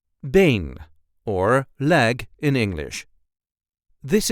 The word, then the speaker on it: been: and this time we will see how to pronounce in a regular Dutch accent Bane or leg in English this is how we